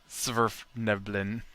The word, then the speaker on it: Svirfneblin: Sverfneblin. Except it's all one word. There's no pause in there. I had to look it up. It's spelled horribly. It's Svirfneblin.